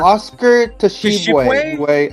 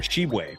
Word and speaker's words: Tshiebwe: Tshiebwe or Shibwe. I'm guessing the t is silent.